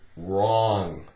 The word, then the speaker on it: wrong: okay we have the word wrong take away the W rah rah um oMG